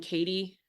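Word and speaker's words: Cady: the main character is a girl named Katie Haron but it's spelled caddy it's spelled c a d y and everybody says it wrong which I also think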